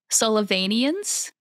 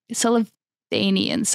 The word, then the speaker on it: Sullivanians: for me to say sullivani sullivanians I'm pretty sure that's how you pronounce it um but it was